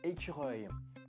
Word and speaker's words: écureuil: And the word squirrel in French, it's écureuil. Let's go to pronounce écureuil with me.